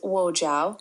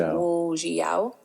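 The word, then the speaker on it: 我叫: And the second phrase is wo jiao, pronounced like wo jiao.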